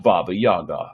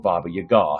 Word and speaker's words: Baba Yaga: Did you already read about Baba Yaga, or Baba Yaga, however you want to pronounce it? There are several pronunciations.